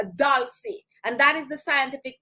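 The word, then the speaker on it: dulcis: d u l c i s so it's pronounced dolce and that is the scientific name for sweet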